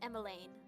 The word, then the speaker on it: Emmeline: Okay, I know how to pronounce this. It's Emmeline.